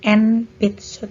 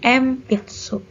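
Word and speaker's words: 鉛筆: Contohnya empitsu, bukan enpitsu tapi empitsu.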